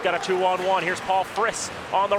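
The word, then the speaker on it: Frys: So Paul Friss, his name is spelled F-R-Y-S, but it's pronounced Friss. You want to say Fries, though.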